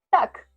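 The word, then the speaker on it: так: Si querés decir sí, decís tak. Tac.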